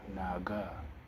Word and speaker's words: 哪个: Now, you might think that there is a K there. Actually, there ain't. It's a G. K. It's actually G. Naga. But you say Naga.